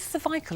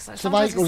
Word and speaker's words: cervical: And if you'd like any more information or advice about cervical cancer, it is cervical, isn't it? Cervical is the English word. Cervical is the American pronunciation.